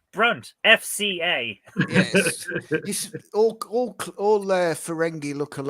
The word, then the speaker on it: Brunt: don't know there's something about them you you mispronounced that it's brunt fca all their ferengi oh sorry sorry